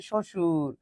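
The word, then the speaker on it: শ্বশুর: আমরা জানি বর্ণের শুরুতে ব ফলা থাকলে উচ্চারণ হয় না। এবার দেখো শুরুতে কোথায় কোথায় আছে? শুরুতে এক জায়গাতেই আছে সেটা হচ্ছে সশুর। এখানে কি আমরা বলতেছি সব বস সুর না।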